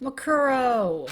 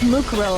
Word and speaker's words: Mukuro: Makuro. It was Mukuro, of course. Mukuro. Yeah. I don't know why I pronounced her name that.